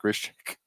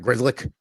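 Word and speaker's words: Grzelcyk: I think he's mixing him up with Matt Grishik. Matt Grizzlick. Matt Grizzlick.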